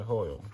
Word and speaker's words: Hoyle: This is by Hoyle, right? That's how you pronounce it.